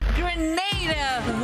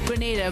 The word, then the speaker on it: Grenada: So today, like we Germans say, we are in Grenada. But I heard in English it's called Grenada. Say it right. Grenada.